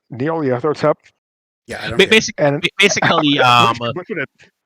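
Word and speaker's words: Nyarlathotep: Oh yeah, you might as well call him Gnarly because like you see his name, like no one knows how to pronounce it. It's Neoliathotep, Yeah, I don't.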